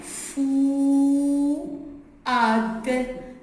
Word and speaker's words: Fouad: F-U, fou, ad. Deux syllabes, fouad.